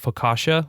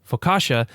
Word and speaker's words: focaccia: And so I think he spells it F-O-C, it could be a K, I can't remember. I'd have to go and check the cookbook. A-S-H-A.